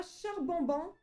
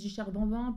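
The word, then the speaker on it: Charbambin: On a charbin. Ça se prononce pas du tout comme ça. Tu sais moi je pense char bambin pour le côté bambin.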